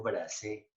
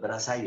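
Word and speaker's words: Brassaï: Dijo Bracé, Bracé, y estuvo bien, no es Brazay, es Bracé, es un súper fotógrafo franchute.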